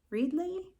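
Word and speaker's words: Readly: new to me app and it's called red readle it's spelled r e a d l y and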